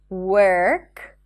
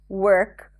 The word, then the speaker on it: work: Do not pronounce the O in words that have the WO spelling, like work, work, worm, not warm, worth, and world.